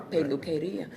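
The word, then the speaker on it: peluquería: At the beauty shop, peluqueria, you got to say, but you can make that little clap with that R, peluqueria.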